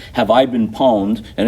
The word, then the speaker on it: pwned: So pwned is the way you pronounce it if you say it out.